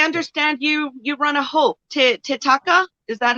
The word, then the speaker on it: Toteka: So I understand you run a Hope Toteka. Is that how you pronounce it? Yes, Toteka.